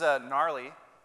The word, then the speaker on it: Gnarly: So this is Gnarly, spelled with a G.